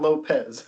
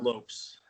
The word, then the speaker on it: Lopes: Sweetwater Lopes. Yes. Lopes for It's antelopes. not Lopez. Not Lopez. More Nope. antelopes than people. That's right. More antelopes than people in Wyoming. So And, we are indeed the Lopes.